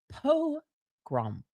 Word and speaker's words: pogrom: It's pronounced pogrom.